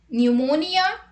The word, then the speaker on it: pneumonia: P is not pronounced at the beginning of many words using the combinations PS, PT and PN. Let's look at the example. Psychiatrist, pneumonia, pneumatic, psychotherapy, psychotic, psychologist, pseudonym, pterodactyl.